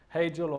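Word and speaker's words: Hegel: there's a famous philosopher hey jill or heckhold depending on how you want to pronounce it one thing that history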